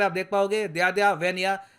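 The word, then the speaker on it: В: जी हाँ, वैसे आपको दिख रहा होगा कि ये बी जैसा दिख रहा है, मगर इस लेटर को ये प्रोनाउंस करते हैं इन रशियन एज वी।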